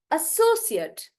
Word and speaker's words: associate: And here, because I'm stressing on so, this becomes cert, associate, associate.